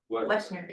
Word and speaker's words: Woessner: Woessner. Yeah, the O isn't pronounced.